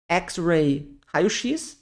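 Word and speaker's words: X-ray: inglês exames e procedimentos então o ex lembrem-se do ex do x-men é como se fosse um X xray x xray aqui ressonância magnética em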